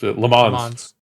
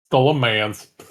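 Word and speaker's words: Le Mans: puts the 24-hour race lemons uh cars hypercars in this last year. We should say it like lemon like people actually are supposed to pronounce it not like American leans the leans.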